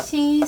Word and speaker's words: し: in this series is not si, but it is shi し shi (ഷി) This is the only letter in sa series with a slightly different pronunciation す su (സു) Doesn't